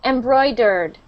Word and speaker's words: embroidered: Same with the end of that word, embroidered. Embroidered. Right, that's the sound. Because it will be confusing if it is pronounced as dare.